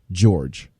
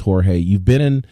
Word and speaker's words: Jorge: is that he calls Jorge Masvidal George. It really annoys me. Like, dude's name is Jorge Masvidal. We all know it's Jorge.